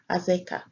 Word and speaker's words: Azekah: It is pronounced there as Azekah.